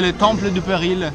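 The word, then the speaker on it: Temple du Péril: Il Diana Jones e le Temple du Peril, che sarebbe un con la pronuncia francese, che è una specie di montagna russa all'Indiana Jones, era chiuso.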